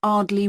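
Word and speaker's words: Ardleigh: Andrea Brown thank you and your address 24 Arley Road can you spell that a r d l e i g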